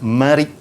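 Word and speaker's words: مريء: Di sebelahnya, depan dan belakang tu, dia ada satu dia panggil urat marik. Ejaan dia marik, mim, ra, ya, hamzah. Marik. Okay, dalam jawapan nanti, dalam SPM nanti, jangan tulis bereh. Jangan sesekali.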